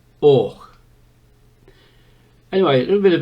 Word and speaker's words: Avoch: We Sassenachs would call this Avoch. Scotsmen would hold their hands up in horror at that, and they pronounce it Och.